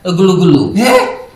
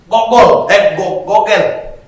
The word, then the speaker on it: Google: Kau masuk dulu di aplikasi Kau ketik dulu situ G. O. L. E. Bacanya? Gulu-gulu. Gulu. Gogel. Iya, itu betul.